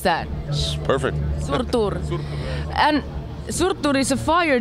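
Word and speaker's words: Surtur: out this year surur Rising how do you pronounce that perfect surur and surur is a fire giant who sets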